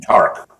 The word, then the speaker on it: Tariq: Yeah, Tariq from Tark. I think he calls him. He pronounces it Tark.